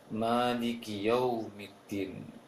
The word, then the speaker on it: مالك يوم الدين: Kemudian untuk koreksiannya barangkali hanya sedikit saja untuk pengucapan kalimat maliki yaumiddin, sedikit kurang jelas yaunya, maliki yaumiddin. Sekarang ya-nya fathah. Kemudian ada waw sukun, namun dalam bacaannya agak lembut karena hukumnya lin dalam istilah tajwidnya.